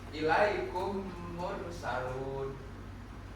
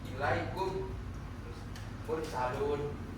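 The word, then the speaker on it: إِلَيْكُمْ مُرْسَلُونَ: Mim mati ya, dia bertemu dengan mim yang selanjutnya. Jadi membacanya hanya satu. Ilaikum mursalun. Kan enggak bisa kalau kita membaca dua kali enggak bisa. Ilaikum mursalun itu salah. Bacanya harus langsung ilaikum mursalun. Agak di ee apa ya istilahnya? agak diemukan sedikit.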